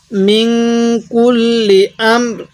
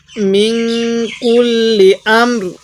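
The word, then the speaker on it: مِنْ كُلِّ أَمْرٍ: মিন কুল্লি আমর, মিন কুল্লি আমর, রটা হালকা উচ্চারণ করব, এই রয়ের নিচে দুই জেরকে বাদ দিয়ে দিব ওয়াকফ করার সময়, তাহলে এই নুন সাকিনের মধ্যে আমরা গুনাহ করব।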